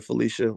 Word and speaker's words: Phylicia: cotton elaine shepard elaine says she supports uh felicia rashad and bill cosby and uh actually uh elaine uh you spoke felicia like my grandmother felicia which it means i like you a lot